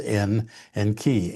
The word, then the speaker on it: Enki: And it goes from the Sumerian where Enki um was supposedly the well Enki in the Sumerian um salaby um has two syllables N and key.